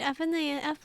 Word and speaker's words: FNAF: Okay, you can read FNAF like an acronym, like Sega, and not like CNN, you know?